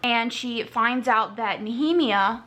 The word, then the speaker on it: Nehemia: And she finds out that Nehemia, which is how you pronounce her name, knew about the keys,